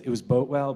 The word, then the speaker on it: Boatwell: And probably the most important evidence was a statement that Boatwell, we actually debated how to pronounce this guy's name, Bootwell. We decided it was Boatwell, but besides the point.